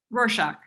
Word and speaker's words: Rorschach: mirror uh stains like uh rockshark do you say warsaw how do you say it darcy rorschach russia stains and uh